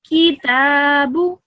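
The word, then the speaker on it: كِتَابُ: So you need to pronounce the ta for the longest. You need to pronounce that for 2 seconds, and the kaf and the ba for 1 second.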